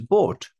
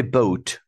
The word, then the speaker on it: bought: Buy past simple is bought. Bought. Some students say boat. This is mistake. Bought.